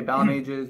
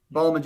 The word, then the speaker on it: Balmages: it's it's bowel mages bow like pal you know I'm your pal and majors like I write music on pages right Balmain just pages so there you go so you're actually putting the accent on the bow me raise some people say bow mages mages but it's in there ball image is completely wrong but I've also gotten